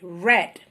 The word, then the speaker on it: read: past tense is different you pronounce this word as they read the color red color you know I read a book yesterday read we have here bought